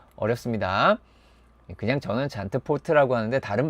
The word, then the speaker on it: Zandvoort: 자, 이것은 잔드보르트인가? 잔트포르트인가? 잔트푸르트인가? 잔트푸르드인가? 뒤에 발음 안 하게. 예. 잔보트인가? 뭐 어렵습니다. 그냥 저는 잔트포트라고 하는데 다른 발음이 틀렸다.